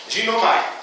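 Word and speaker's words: γίνομαι: A pronúncia grega é mais ou menos esta, ginomai, que significa poder de se tornar completo como.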